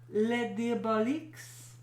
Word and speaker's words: Les Diaboliques: In Les Diabloques, French film, Diabloques, Oh, I'm done. 1955. Which character? You're saying it wrong. Let me see it. Diabloques. Les Diaboliques.